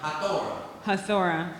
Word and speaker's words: Hathora: So, let me see, am I pronouncing this right? HATHORA.